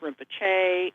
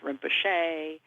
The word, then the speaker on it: Rinpoche: There are several prominent dialects among Tibetan speakers, and those are two of the prominent dialects, is the one that says Rinpoche and the other that says Rinpoche.